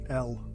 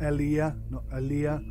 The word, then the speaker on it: Elea: L. That's how you pronounce it. L. Not Elea. L.